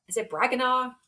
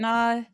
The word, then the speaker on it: Branagh: Is it Braganaw or how do I Oh, say his name? Branagh.